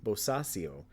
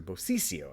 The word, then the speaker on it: Bosisio: And there's also a short interview with actress Liu Bosasio, or sorry, Bosisio, I believe is the way you pronounce that.